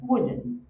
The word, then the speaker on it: wooden: Olha a pronúncia. Esse u aqui é o U relaxado. Então você não faz aquele Ah, você faz é tranquilo. É. E o stress era primeiro. Então fala wooden.